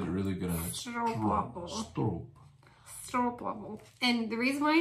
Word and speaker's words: stroopwafel: And it said stroop, like a rope. I remember. Stroopwafel.